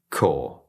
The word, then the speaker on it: corps: Then we have this word, and this is pronounced core. Corps.